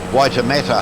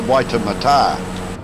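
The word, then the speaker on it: Waitematā: the Auckland Harbor was always known as the waitemata harbor we've all had to change it's now the waiter Mata because that's the correct pronunciation apparently close is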